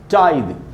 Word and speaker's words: tithe: पहला वर्ड है दोस्तों टाइड, TITHE, टाइड, और इसका प्रोनाउंसिएशन मैंने यहाँ फोनेटिक ट्रांसक्रिप्शन में भी लिखा है।